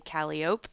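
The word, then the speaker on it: calliope: People in New Orleans say Calope.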